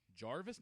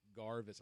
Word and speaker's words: Garvis: like what's your name and garvis jarvis no garvis i literally just told you my name like how to pronounce that's why i tell everyone just to call you guys yo you garn i called yeah because for some reason my granny you know i'm i'm fine if i if you know if they're calling me garth at least they're getting the hard g you know pronunciation and